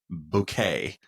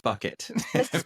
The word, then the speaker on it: Bouquet: That lady, Hyacinth Bouquet, and everybody called her Mrs. Bucket because they mispronounced her last name.